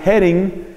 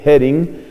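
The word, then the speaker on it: Häring: un sacerdote redentorista llamado Bernard hering que se escribe h a r i n G hering esa va con diéresis es un apellido alemán Bernard hering dice no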